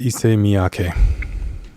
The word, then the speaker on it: Issey Miyake: it's taking a second i believe the man's name is pronounced issei miyake who was a um